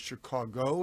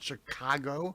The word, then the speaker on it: Chicago: So I am from Chicago originally, pronounced the right way, which is Chicago, not Chicago. Okay. A native will call it Chicago, but South side, north side?